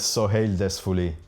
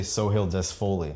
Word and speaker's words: Sohale Dezfoli: Okay, so full name is Sohale Dezfoli. But in English, I say Sohale Dezfoli.